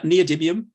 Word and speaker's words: neodymium: don't know a lot about myself it's called neodymium i think i pronounced that correctly that's right yeah neodymium cool and i know that they're used in